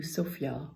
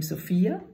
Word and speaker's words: Sofia: I chose for you Sofia Vergara's you can pronounce his name Sofia then you have a girl's name or you pronounce it Sofia then you have the capital of Bulgaria and in this burger you